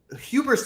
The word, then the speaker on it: hubris: Hubris does not have a silent H. I don't know why you pronounce hubris. I mean, it's kind of funny, but as an English teacher, I just should point out that you can. It's a hard H on hubris.